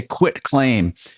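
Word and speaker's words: quitclaim deed: A quit claim deed often called quick as a uh because they they mispronounce it and they and it's quick. The process is quick, but it's actually a quit claim.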